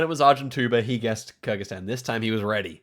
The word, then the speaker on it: Kyrgyzstan: We would appear to be in Kyrgyzstan this time, which I pronounced correctly.